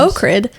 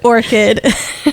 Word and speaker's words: orchid: That's like, I can recall our one friend who was pronouncing orchid, so much worse. ochrid, for the longest time until I told him it is in fact orchid.